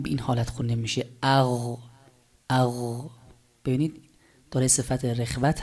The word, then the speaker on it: غ: یه کمی ادامه داره اغ اغ نباید بشه اق به این حالت نباید باشه چون اگر این حالت تلفظ بکنیم دیگه در واقع آمدیم و قاف رو تلفظ کردیم خب حالا مثالش با